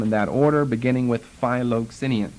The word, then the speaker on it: Philoxenian: And we will do them in that order, beginning with Philoxenian. Basically spelled like it sounds, Philoxenian.